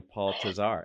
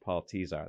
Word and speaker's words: Tesar: telling the whole world I was calling him Paul tazar and he just let me he just let